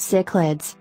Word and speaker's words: cichlids: This large group of fish, the name of which is pronounced cichlids, originates mainly from Central and South America and Africa, although three species, including one recent rediscovery, are known to come from Asia.